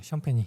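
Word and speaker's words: Champagnie: 보이지 않는 것에서 묵묵하게 해줘야 되는 선수들을 비교해보고 싶은데, 샌안토니오 스퍼스에는 샴페니라고 발음하는 게 맞나요, 이 선수? 네, 샴페니.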